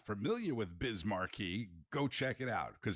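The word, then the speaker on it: Markey: denouncing those statements today from Senator Ed Mary rhymes with bis Marquee who oddly enough had a song called what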